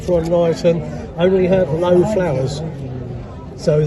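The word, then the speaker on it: Frohnleiten: German, German that one, Frontleiten. Yeah, it's a good old favourite. Now the old ones, like Frontleiten, only have low flowers.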